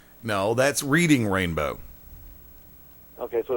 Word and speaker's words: Reading: Are you sure it's not pronounced reading? Reading.